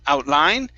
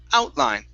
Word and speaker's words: outline: here outline yeah outline okay stress at the beginning instead of outline it's outline data outline outline there